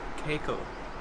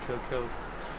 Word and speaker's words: Kealkill: Also, apparently the place that we finish is called Kealkill, not Kealkill.